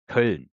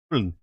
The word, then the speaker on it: Köln: pronounce Cologne in German, it's actually pronounced Köln. Köln. But I don't think English-speaking people have the Ö. No, we don't. Köln. It's kind of like a U for you, but it actually is an O with 2 dots on the top of it.